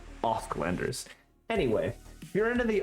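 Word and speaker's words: Åsklanders: Asklanders is not pronounced Asklanders. It is pronounced Osklanders, as if the first A was an O. Osklanders.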